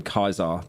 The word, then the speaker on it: Caesar: an incel like towards Caesar. Everyone that's like a parasocial s towards him, they call him Kaisar, the original pronunciation. They don't call him Caesar.